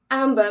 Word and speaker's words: Amber: having me so i have you am i pronouncing your name correct amber amber that's correct yeah okay so that everyone should